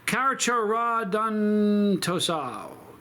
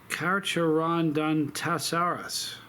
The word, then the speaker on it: Carcharodontosaurus: Okay, number 10 is Carcharodontoso. Carcharodontoso. Listen. Look at that word. Tell me how you would pronounce that. Isn't that something? Anyway. Oh, no, hold on. It's Carcharodontosaurus.